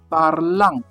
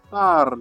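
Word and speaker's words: parlent: Like this word, what will many say in French? Parlant. They want to pronounce everything. But the correct pronunciation in French should be what? Parl. You drop all these ending. It will be parl.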